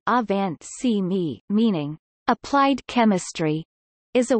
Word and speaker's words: Angewandte Chemie: Angewandte Chemie, German pronunciation, Avant Chemie, meaning applied chemistry, is